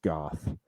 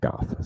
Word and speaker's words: Gough: Williams as Harvey Dent, Michael Gough, I think it's Gough, as Alfred Pennyworth. How's it spelled? Gough. Go. I was listening to a podcast today where they pronounced it Gough, so we're gonna assume Gough.